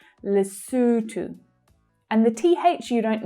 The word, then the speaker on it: Lesotho: Lesotho. Okay, this one I have been saying incorrectly for my whole entire life. It's not Lesotho, like I've been saying, but it's Lesotho.